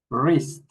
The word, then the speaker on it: wrist: For example, in this word, we don't pronounce the W. We start with the R. R. R. Wrap. Wrist.